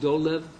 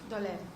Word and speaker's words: Dolev: Who is it pronounced Dolev? Dolev.